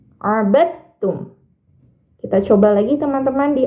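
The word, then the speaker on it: عَبَدْتُمْ: makhrajnya tapi beda sifatnya maka cara bacanya huruf dalnya dimasukkan ke dalam huruf ta abadum Nah jadi tidak perlu dalnya itu dibaca abadtum A itu keliru tapi langsung dimasukkan ke huruf ta abadum kita coba lagi teman-teman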